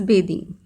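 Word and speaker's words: bathing: when you are writing B ए टी एच आई एन G then you have to pronounce it बेदिंग okay then fourth वाटरिंग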